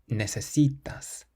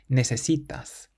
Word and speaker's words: necesitas: And then finally we have a word that ends in an S. So the sun rule means that we stress the syllable before last. Necesitas. Necesitas. It means you need.